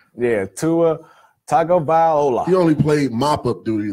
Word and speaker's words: Tagovailoa: I can't pronounce his last name. Tagovailoa. I think I got that right. Yeah, Tua Tagovailoa.